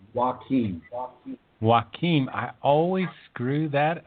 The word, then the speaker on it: Joachim: My first name is pronounced Joachim.